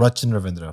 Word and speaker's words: Rachin Ravindra: Rachin Ravindra.